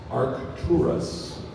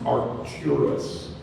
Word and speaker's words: Arcturus: the word is Arcturus Arcturus certainly art tourists it could also be pronounced archurus are tourists are curious a r c